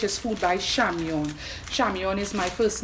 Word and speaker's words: Chamion: social media which is food by Xiang Yan Xiang Yan is my first name it is spelled CH am pi om there's an email